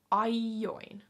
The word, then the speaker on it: aion: But the key word here is aion. Aion. Aion. Aion. So again, the tavu is separated. It's AI, tavu, OI.